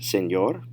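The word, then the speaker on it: señor: say back buenas tardes senor notice the pronunciation is going to be a little bit different from english because when you see the e in spanish it's an a sound and a lot of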